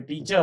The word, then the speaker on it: teacher: और जैसे आपके टीचर हैं, TEACHER, तो ई के बाद आर आया, आर साइलेंट हो जाएगा, this will be टीचर, टीचर।